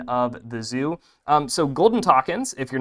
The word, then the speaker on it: takin: This is an adorable golden takin. It's spelled T-A-K-I-N, but as the San Diego Zoo helpfully instructed me, it is pronounced like rockin'. It rhymes with rockin'.